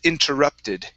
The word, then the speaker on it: interrupted: This word here, instead of interrupted, it's interrupted.